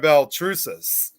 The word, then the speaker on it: Baltrusis: Please welcome, of course, Sam Beltrus.